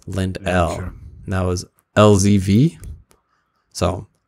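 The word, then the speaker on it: Lendl: lindell's last name wrong I probably said Lynn lentils lentils lentils something like that and his le in DL apostrophe s they said it's Lind L and that was lzv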